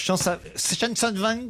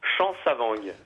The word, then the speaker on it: Chansavang: aurons au téléphone Chansonvang. Je sais pas comment je dois prononcer votre nom. Excusez-moi. Vous pouvez m'aider peut-être. Bonjour. Bonjour Laurent, bonjour à tous. Comment je dois prononcer votre nom? Chansavang. Chansavang.